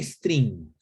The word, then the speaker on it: stream: strings que es un stream ya incluso hay que pronunciarlo con con los labios y fuerte porque si no aparece strings no string de cadena de caracteres string o algo así